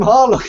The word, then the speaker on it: Harlock: first place but it it would still be harak it wouldn't be isn't it isn't that how they say it or do they actually say horlock well they I don't think they say it quite so hard but I'm pretty sure it's it's Harlock okay just with like